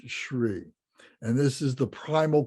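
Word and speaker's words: Hrih: And in the very center of this, at our heart center, is the syllable Shri, or H-R-I-H, pronounced Shri.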